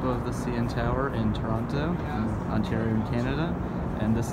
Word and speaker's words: Toronto: This is the beautiful waterfront in Toronto. Pronounce it with a T because that's how it's actually pronounced.